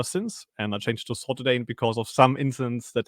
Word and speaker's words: Saltydayn: Welcome with us, Saltydayn.